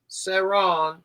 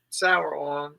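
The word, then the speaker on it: Sauron: Saron, pronounced like sweet and sour. Yeah. Sour on.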